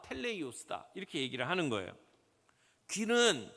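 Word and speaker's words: τέλειος: 텔레이오스. 한번 헬라어 발음 좀 해 볼까요? 따라서 해 보세요. 텔레이오스.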